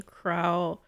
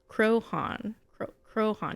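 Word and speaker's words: Croaghan: Pronunciation Crowhan. Crowhan. You do not, the G is silent.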